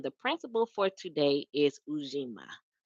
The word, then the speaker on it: Ujima: principle for today is Ujima. I think that's how you say it, Ujima. I sometimes get it mixed up with the fourth principle, with this Ujama or Ujama, but it is Ujima for today.